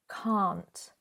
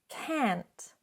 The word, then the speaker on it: can't: That longer sound, can't. But in American English, can't. Now, I have noticed sometimes when non-natives speak, they might not clearly pronounce that T at the end.